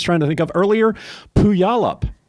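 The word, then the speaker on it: Puyallup: to think of earlier puyalup puyalup Washington if you see how it's spelled you will never pronounce it correctly I thought it was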